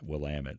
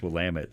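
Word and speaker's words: Willamette: of Oregon believe it or not it's actually pronounced will Amit I used to say willit for years it's I went to visit friends in Oregon oh yeah there's no I it's will lam it I thought they messing with because I'm from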